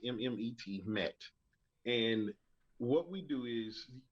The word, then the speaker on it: MMET: um with mnet solutions it's uh it's actually pronounced met oh no problem no problem um pronounced mmet met and what we do is i mean of